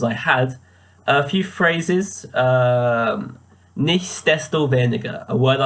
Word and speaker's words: Nichtsdestoweniger: I had not been saying it with the S previously, so I'd been saying nicht desto weniger without the S, and you can see that in my first draft actually.